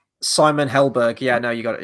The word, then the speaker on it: Helberg: I didn't want to pronounce the surname wrong. Simon Helberg.